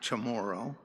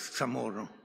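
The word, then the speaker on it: CHamoru: But every one of them knew since the very beginning that it isn't pronounced chamoro. They all knew it was tamoro.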